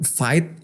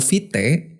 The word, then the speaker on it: vite: vit ya vit gitu jadi nyebutnya kayak vit bukan fight bukan vit ya Coba